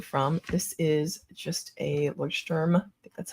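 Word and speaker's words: Leuchtturm: This is just a Lordm, that's how you pronounce it, uh, notebook that's numbered.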